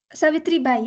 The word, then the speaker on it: Savitribai: I thought Savitribai, is it how I say it? Savitribai? Savitribai, yeah, the second Savitribai.